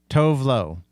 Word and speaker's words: Tove Lo: Takei Maidza, and Tove Lo. Not Love. It's not pronounced Love.